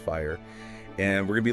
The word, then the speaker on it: FHIR: security yes absolutely yeah fhir you know pronounced fire and we're going to